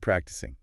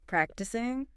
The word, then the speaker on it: practicing: Many learners want to say practicing, ending with a hard end sound. But, it is an ng sound. Right. That tricky ng. The back of your tongue needs to raise up and touch the roof of your mouth.